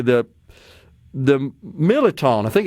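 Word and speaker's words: mirliton: But they was always pronounced militon. Like the R is kind of silent.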